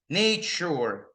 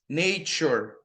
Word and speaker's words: nature: find this sound a lot in words ending in this and this, guys. Okay? Ensure. Nature. Future. The sure, nature, sure. Repeat, everybody, guys. I want to hear you. Nature. Nature. Nature. That's the pronunciation.